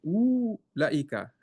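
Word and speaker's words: أولئك: Here it looks like after dhamma, we have a wow, so we should make it prolong, right? So we say woo, but no, this wow we don't pronounce. Okay, as you can see, that's why they're putting this type of circle here. But lam doesn't look like has any alif, so it said ooh laika.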